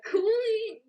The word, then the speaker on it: Cooley: the same way as cooley yeah coolly pronounced the same way as ghoulie but not spelt the same at all yeah hopefully he's off the